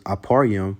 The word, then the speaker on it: Ephraim: Then you have the northern kingdom with the head being Ephraim. And how to say it in the Hebrew, it's Aparyam, which means I am fruitful.